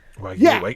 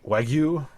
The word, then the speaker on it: Wagyu: That's That's like going to McDonald's and wondering why you don't have Wagyu beef or however you pronounce that. Wagu. Wagyu.